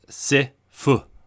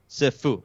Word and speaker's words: Sifu: How does Stephanie pronounce it? Sifu. Sifu.